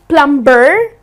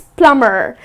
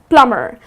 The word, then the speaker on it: plumber: trades person well plumber it's not lumber but it's plumber so here the B is silent it's plumber so the person who